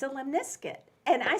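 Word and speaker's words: lemniscate: It really is pronounced limniscate, like a biscuit, in America. But anybody from biscuit. everywhere else they will make fun of you because it's the infinity symbol. Man. It's a limniscate, and I said How do they that.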